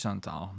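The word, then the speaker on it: Chantal: it unfortunately but I it's Shantal I I don't know why I try to try to like word play here but it's Shantal not super surprising because it's BS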